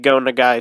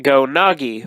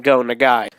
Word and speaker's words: Go Nagai: myself a pretty big Go Nagai fan. But for the past 2 years since I first got into him, I've been pronouncing his name Go Nagi, which is completely incorrect.